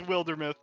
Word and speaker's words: Wildermyth: could pronounce it how they want it's it's wildermuth we had a lot of people pronouncing it wildermuth in the earlier stages of